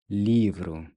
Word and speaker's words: livro: Livro. Livro. Livro. Livro means book. The RO is pronounced just like in quero.